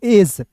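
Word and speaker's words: edge: एज ई का उच्चारण ए के रूप में डी जी आया।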